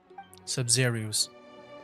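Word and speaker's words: Sabzeruz: Sub-Zerus. That's how you pronounce it.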